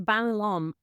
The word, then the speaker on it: Van Lom: And my last name is Banalom. I know it sounds hard to pronounce. Banalom. Sorry. Sorry. What language is it? So it's Dutch.